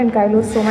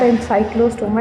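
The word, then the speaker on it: Ancylostoma: Where as the next A stands for एन काइलोस्टोमा। इट्स नॉट एन साइक्लोस्ट स्ट्रोमा। इफ you read the spelling carefully it's एन Kylo and नॉट एनसाइक्लो।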